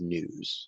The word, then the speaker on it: news: stupid stupendous no problem same thing with news you don't have to add that y sound um okay we have